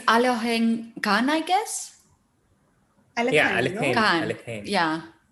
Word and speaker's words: Alekhine: How do you pronounce it? Alohengan. Really? Yeah, right. Alekhine, yeah. No, yeah, I always called him Alekhine. I mean, not that I ever met him, but I have this influence from Russian.